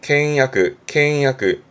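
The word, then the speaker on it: 倹約: 발음은 캥야크.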